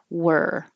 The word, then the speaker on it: were: And now this one that is actually spelled with an O sounds like an ER, and you have to round your lips for the W, but you don't keep them rounded.